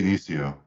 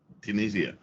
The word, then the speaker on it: Dionisio: I have Dionisio. Did I pronounce that right? It's pretty close. Yeah, Okay. Dionisio. Dionisio.